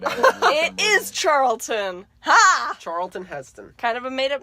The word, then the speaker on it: Charlton Heston: Is Charleston. No. Charleston No, Heston. no. It's Charlton Heston.